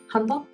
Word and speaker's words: Hanbok: So I was doing a little bit of research on the pronunciation of Hanbok, and I think it's closer than it was before. It doesn't sound like we say the K.